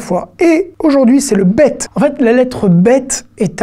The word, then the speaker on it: ב: aux deux particularités et le bet la particularité c'est que selon sa place dans un mot va se prononcer 2 comme un bep ou veut comme un v d'accord c'est une lettre